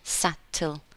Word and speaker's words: subtle: in meaning so here it's a silent letter B we say subtle subtle changes in meaning